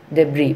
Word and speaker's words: debris: Then debris, debris by spelling D-E-B-R-I-S, but we are pronouncing as a debris.